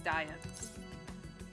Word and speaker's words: Diet: also I just realized I've been pronouncing diet wrong because I was like there's no way diet like a diet so I was like it's like be it or something okay um it's diet the afternoon went about